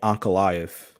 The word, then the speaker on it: Ankalaev: Magomed Ankalaev.